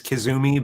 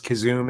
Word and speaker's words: Kazum: they see my name they usually think it's kazumi but it's kazoom it's a mispronunciation of